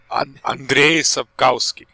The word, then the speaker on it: Andrzej Sapkowski: Andrzej Sapkowski.